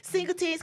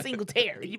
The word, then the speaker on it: Singletary: name's singletary they're like singleton's clean you know it's clean unless you see the tens i'm like my name ain't singleton it's singletary but you know they